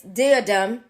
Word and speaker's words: diadem: The plan is to locate this diadem. Yes. Am I pronouncing it right?